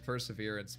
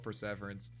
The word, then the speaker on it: perseverance: But any perseverance pronunciation is that actually how it's pronounced. No, it's not. It's not. It's perseverance. But I call it pverance.